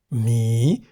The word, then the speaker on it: หมี: Mi begins with a high-class consonant ho heb, and therefore based on the tone rules for a live syllable, mi is in the rising tone.